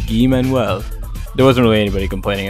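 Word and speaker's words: Guy-Manuel: i'll take the fall it is pronounced gui manuel there wasn't really anybody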